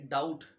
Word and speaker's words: doubt: इसके अलावा जैसे डाउट, DOUBT, बी के साथ टी साइलेंट होता है।